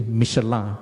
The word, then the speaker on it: Michelin: At that time, the MIB also produced in collaboration with Michelin, or actually the right pronunciation is actually Michelin, not Michelin, it's actually Michelin, to produce tire for aircraft.